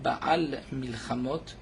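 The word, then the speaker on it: בעל מלחמות: Lorsqu'on dit Baal Milchamot, il faut faire attention de bien prononcer le Aïn, Baal Milchamot, pour ne pas entendre, au contraire, Baal Milchamot, comme si Akadosh Baruch Hu ne pouvait pas faire de guerre.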